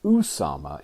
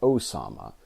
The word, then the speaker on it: Usama: from this point forward, I'm going to refer to him as Usama and not Osama. After all, his name is spelled Usama with a U and not an O.